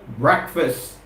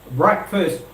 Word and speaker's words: breakfast: go breakfast breakfast breakfast breakfast I hope you've got the right pronunciation hope you've got the correct pronunciation of us word Karthik it's not break fast it's not break fast it's breakfast breakfast breakfast breakfast breakfast breakfast and